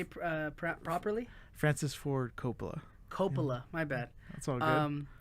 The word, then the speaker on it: Coppola: Coppola, my bad.